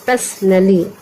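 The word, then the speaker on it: personally: इसको पढ़ते हैं पर्सनली। पी से होता है प इ यहां पे साइलेंट हो गया।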